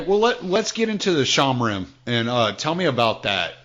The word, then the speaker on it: Shomrim: It's actually I was pronouncing it Shomrim for a long time, and then somebody corrected me and said no, it's actually Oh, okay. Shomrim.